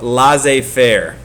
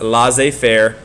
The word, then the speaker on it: laissez-faire: this is a French term, and it is pronounced laissez faire. So it's not laissez faire or anything like that. It's pronounced laissez faire.